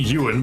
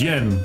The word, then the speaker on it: Yen: Well, if it ain't Yuan, then it's like Yin or something. Or just Yen. Which floor would you like, sir? It is Yen.